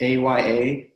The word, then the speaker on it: Aya: AYA, Aya, is that how you pronounce it? Yes.